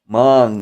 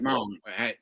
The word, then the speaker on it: Hmong: Hmong, that's right. Hmong, yeah. Not Mongolian. No. Those, yeah. Yeah, because the H is silent.